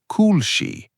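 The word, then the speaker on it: koulshi: For example, cool she uses "ou" so you stretch the sound a little. Cool she. But in shukran, the "u" is shorter like the "u" in push.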